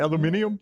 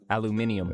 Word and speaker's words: aluminium: Aluminium? Yeah, that's how the British say aluminum. Well, Tyler's wearing his England shirt. Did they say it, Tyler? Aluminium.